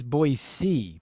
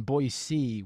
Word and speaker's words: Boise: it's not boy Z it's boy C boy C they get very annoyed in Boise when people say Boise just saying thank you